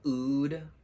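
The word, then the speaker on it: oud: try this all right vanilla ood food would or for some people call it ode i don't actually know what the tomato tomato pronunciation is but i call it oodwood oh this is this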